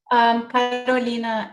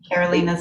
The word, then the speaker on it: Carolina: Carolina, if that works for you, but in English, Carolina's okay. Carolina or sorry. Carolina is, I'm from Brazil. I'm a Brazilian immigrant. So Carolina is how we say it in South America, but Carolina.